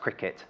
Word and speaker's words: Cricut: Cricut like yep yeah I think it is pronounced Cricut sometimes people get confused is it quite cut it's a quick cut to its Cricut to like the sport okay I'm not gonna